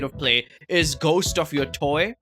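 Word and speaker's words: Yōtei: Play is Ghost of Your Toy. Is that how you say it? Your Tay, therefore, the English pronunciation is as Ghost of Yote.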